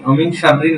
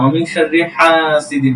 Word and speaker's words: ومن شر حاسد: النفاثات في العقد হ্যাঁ, ومن شر حاسد إذا حسد অমিন শাররি, অমিন শাররিন না, অমিন শাররি হাসিদিন। ومن شر حاسد إذا حسد ওকে, ঠিক আছে।